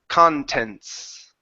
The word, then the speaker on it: contents: muted the T um the t is not muted it's h connected to the S contents okay contents huh so